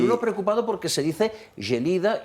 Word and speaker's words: Gelida: El diputado de Junts, lo primero que empezó diciendo es, no se dice Gélida, se dice Gelida.